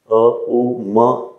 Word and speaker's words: ओम: से कर पाए तो उच्चारण तो आपको ओम का ही करना होता है उच्चारण तो ओम का ही करना होता है अ उ म ऐसे साधना नहीं यह आपके